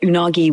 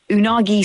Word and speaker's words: unagi: Unagi simply means eel. The word is pronounced in three smooth, even beats, almost like a fish moving through water.